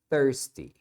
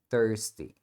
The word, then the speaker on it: thirsty: em inglês vai ser thirsty thirsty então esse ir aqui você pronuncia com o som de thirsty thirsty muito bem agora vamos